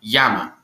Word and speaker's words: llama: your pronunciation is wrong when a word begins with a double l the double l is pronounced as y therefore the correct way to say llama is in fact yama don't you see very